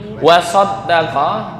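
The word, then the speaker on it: وَصَدَّقَ: Wasaddaqa itu artinya dia membenarkan. Tapi kalau wasadaqa dia benar. Benar dan membenarkan kan beda. Beda tasdid aja. Hanya beda tasdid.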